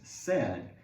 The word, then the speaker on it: said: The past tense of say is said. It's not said. It looks like, maybe it looks like said or side, but it's actually pronounced said.